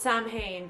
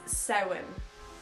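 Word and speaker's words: Samhain: the way it's spelled I understand why you guys pronounce it Sam Hayne but it's sewing SE okay and the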